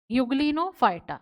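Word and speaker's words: Euglenophyta: देखो कैसे यू से युगन फाइटा अब यह मत कहना कि मैडम युगन फाइटा की स्पेलिंग तो ई से स्टार्ट होती है बेटा बोलते तो युग नो ही है ना तो इसीलिए यहां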